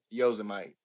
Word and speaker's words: Yosemite: Yosemite.